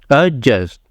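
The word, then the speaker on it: adjust: एडजस्ट एडजस्ट कहते हैं लेकिन ये एडजस्ट नहीं है यहां पे जो डी है ये आपका साइलेंट क्योंकि डी के बाद क्या है जे यहां पे ए जो है ये भी हाफ ए पूरा कंप्लीट है नहीं अजस्ट अ जस्ट य डी साइलेंट है नेक्स्ट है जो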